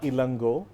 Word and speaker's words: Ilango: I have Ilango and I have Hiranya.